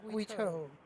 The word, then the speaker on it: Guiteau: It's pronounced Guiteau.